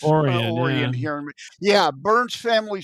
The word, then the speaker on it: Orion: Lake Oran. Oran Lake Oran. It looks like Orion. It's pronounced Oran here in Yeah.